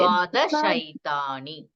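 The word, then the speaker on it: द्वादशैतानि: Can you just tell the first word how to pronounce? Yes. Dvadasha. Ekadasha. Dvadasha. Okay. So Okay. Dvadashaitani.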